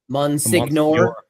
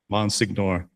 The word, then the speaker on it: Monsignor: been just sort of mentally mispronouncing Monsignor this entire time. Probably with a hard G. Monsignor. Monsignor.